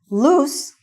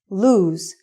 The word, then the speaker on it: lose: Loose is an adjective which means not tight. And lose is the opposite of find. Okay? Did you lose your cell phone? Also, the pronunciation is lose and not loose.